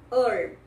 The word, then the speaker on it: herb: A palavra erva em inglês, herb, herb. H é mudo.